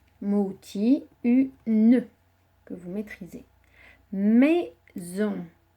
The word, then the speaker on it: maison: Le z de maison s'écrit avec un S, puisqu'il se trouve entre le i et le o qui sont 2 voyelles. Donc le s fait le son z et on, on.